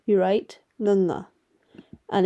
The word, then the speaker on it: ਙ: is how you write Nana and it's pronounced using the back of your tongue against the back of your mouth the top of your